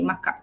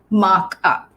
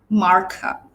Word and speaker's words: markup: We use it as part of our Malay, when we speak Malay, we say markup, markup. But the correct pronunciation in British is markup, or American markup, where the R is pronounced.